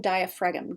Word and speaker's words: diaphragm: to pronounce for spelling diaphragm d-i-a-p-h-r-a-g-m and it's a ph like pharmacy um greater omentum is